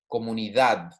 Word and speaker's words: comunidad: ending in right okay it's not like dad right or it's not dodd it's a very soft d almost like you're saying a t comunidad okay now as shown